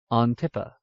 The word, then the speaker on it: Antippa: When this syllable has an I, it is sounded long, capital ARDRIVIS, Ardrivis, unless it comes before a double consonant, capital ANTIPPA, Antippa.